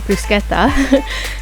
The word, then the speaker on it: bruschetta: Now we're going to get started on our bruschetta, and that's the proper pronunciation is bruschetta.